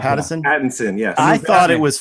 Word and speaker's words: Pattinson: oh how would you like that and robert patterson is that how you say his name patterson pattinson yes i thought it was fantastic it's a